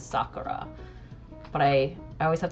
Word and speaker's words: Sakura: the English dub and they pronounced it Sakura. And so whenever I say card captor Sakura, I want to say Sakura cuz that's like it's so ingrained in me. But now getting older, I recognize that the proper pronunciation is Sakura.